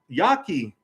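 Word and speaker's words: Yaqui: America was created um Yaki you probably never heard of Yaki it's spelled y-a-q-u-i looked this stuff up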